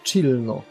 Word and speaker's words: Cirno: A to jest jeszcze śmieszniejsza rzecz, bo Cirno oryginalnie powinno się wymawiać Chillno. Bo jest lodową wróżką.